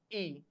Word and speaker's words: y: In between Y, the meaning of Y is and the pronunciation is E.